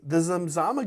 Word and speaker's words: Zamzama: It starts with a Z. It's spelled Z-A-M-Z-A-M-A. Zamzama.